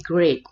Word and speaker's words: great: pertama di sini ada Bridge bacanya bukan duri tapi grade karena great itu salam ya ya jadi grade